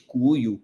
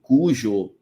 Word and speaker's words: Cuyo: Ah vocês vão ouvir Depende do lugar depende da pronúncia lá na Argentina eles podem chamar diferente cuio cujo curo né is tem uma pronúncia um pouquinho diferente os portenhos falam muito